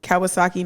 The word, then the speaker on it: Kawasaki: that it was a uh i'm about to butcher the out of this kawasaki ninja yeah yeah yeah you said it perfect